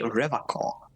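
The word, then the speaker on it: Revachol: He pronounces Revacol with a hard K, unlike other people. Oh wow, Rhetoric pointed it out. Oh, I like that. Did you just say Revacol?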